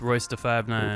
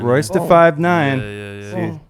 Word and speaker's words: Royce da 5'9: It's Royce da 5'9". Royce da 5'9".